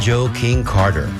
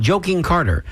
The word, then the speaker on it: Joe King Carter: And the way we say it, you have to pronounce it that way because otherwise it sounds like you're saying Joking Carter.